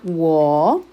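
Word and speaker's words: 我: Entonces yo en mandarín se pronuncia wo y este es el orden de trazos que deben de seguir.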